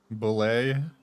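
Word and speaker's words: bulette: I don't know how to pronounce it. Ble. No, you pronounced it right.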